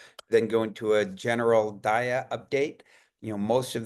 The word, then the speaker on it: DAIAA: Um first for those first timers uh we pronounce it DIA.